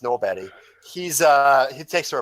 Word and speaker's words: Norberg: Swedish obnoxious libertarian uh Johan norbat uh spelled Norberg uh pronounced Nob he's uh he takes